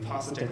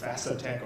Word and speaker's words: Phasatech: important thing is that our company name, Pasatech Labs, is spelled P-H-A. Most people think it's pronounced Fasatech or Phasatech or something, but it comes from the Thai language.